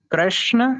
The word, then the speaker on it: कृष्ण: तो इसमें जो हम्म पहला वाला है कृष्ण, वो शुद्ध है, सही है।